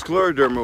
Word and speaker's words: scleroderma: Every year, Bob, you have a big fundraiser for scleroderma. Am I pronouncing it correctly? Well, it's scleroderma, which means hardening of the skin, and we